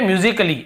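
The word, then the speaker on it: musically: और देखिए फिजिकली, हम क्या पढ़ते हैं, फिजिकली, ये देखिए फिजिकली, तो यहाँ पर भी ए का उच्चारण नहीं हो रहा है।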